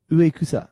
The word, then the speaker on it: Uekusa: We have Ayumi, is it Yukusa? Yuka? How would you pronounce that? Ayumi Uekusa.